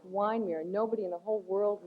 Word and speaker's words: Wyndmere: And uh but it's pronounced in a long vowel wine.